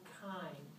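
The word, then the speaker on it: chyme: pylorus is now called kind that's spelled c-h-y-m-e food in the pylorus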